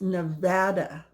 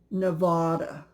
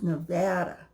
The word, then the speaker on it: Nevada: and they say it wrong this state is pronounced Nevada not Nevada please don't miss pronounce it because if you're